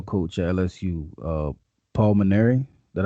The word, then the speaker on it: Mainieri: um the baseball coach at lsu uh paul minary that how you say his name indeed yeah